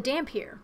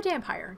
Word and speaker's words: Dhampir: For number 5, we have the Dhampir, or Dampire, depending on how you want to pronounce it.